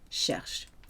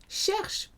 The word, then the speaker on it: cherches: Tu cherches. ES. Silent S though. Still sounds the same.